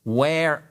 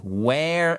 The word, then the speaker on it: where: On ne dit pas where is mais where is avec un W comme dans weekend. Weekend. Where is et pas where is.